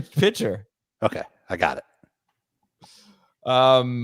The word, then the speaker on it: Pitcher: Dan pitcher to offensive coordinator wait how'd you pronounce that P pitcher okay I got it um Miami and defensive